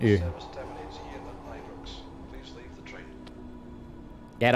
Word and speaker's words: Ibrox: Ibrox, next stop.